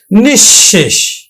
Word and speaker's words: নিঃশেষ: এছাড়া বিসর্গ যদি শব্দের মধ্যে থাকে তাহলে বিসর্গের পরে যেই বর্ণটা থাকবে সেই বর্ণটা কিন্তু দুইবার উচ্চারিত হবে। যেমন নিঃশেষ বিসর্গ তারপরে হল শেষ।